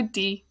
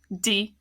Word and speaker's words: die: You pronounce die like you would pronounce die in the English word sandy. Die, sandy.